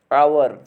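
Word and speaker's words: hour: हावर में भी फ्रेंड्स क्या, एच साइलेंट होता है। इसका प्रोनाउंसिएशन क्या फ्रेंड्स, आवर। इसमें भी फ्रेंड्स एच साइलेंट रहता है।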